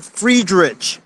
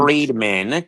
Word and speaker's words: Friedman: I think Elliot Friederich, I don't think that's how you say his name. Elliot Friedman, get it right.